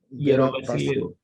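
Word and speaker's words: Gerovassiliou: Is it pronounced as Gerovasilou? Gerovasilou.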